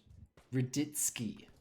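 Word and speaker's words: Radetzky: Raditsky.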